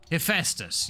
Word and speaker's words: Hephaestus: But I am not I've already forgotten how to pronounce it. Heck, goodness me. Scrolling up the chat. Hephaestus. Okay, there we go. Hephaestus, you see.